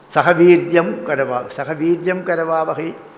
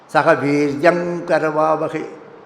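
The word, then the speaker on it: सह वीर्यं करवावहै: Sahaviryam Karavavahi. Sahaviryam Karavavahi. But the pronunciation should be Sahaviryam Karavavahi. Because the im is followed by ka. When ka comes, the anunasika sound should be nga. Sahaviryam Karavavahi.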